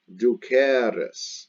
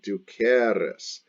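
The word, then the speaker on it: dūcēris: passive was ducatis d-u-c-e-r-i-s now the future is spelled the same way d-u-c-e-r-i-s but the e is a long e du cares and the pronunciation is different du cares because the future passive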